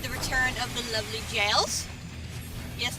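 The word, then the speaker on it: Gaol: return of the lovely jails yes that word really is pronounced jail but there's one little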